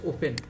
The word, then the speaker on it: often: ওপেন মানে হচ্ছে, এই ওপেন মানে হচ্ছে প্রায়, যারা আপনারা জানি না অনেকে ওয়ার্ডগুলো, OFTEN শব্দটা না উচ্চারণ হচ্ছে ওপেন।